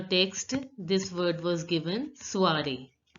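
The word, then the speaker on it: soirée: The same way in your text this word was given soiree. So the last E is not pronounced and OI is pronounced as ua.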